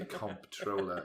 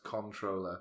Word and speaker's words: comptroller: says comptroller comptroller yeah you don't pronounce it you don't say comptroller it's pronounced controller the controller okay what